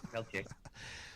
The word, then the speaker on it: Peltier: Well, I call him Leonard Peltier, but I mean you're from up there, so I knew if I said it wrong, you were gonna correct me. So you got it, Peltier.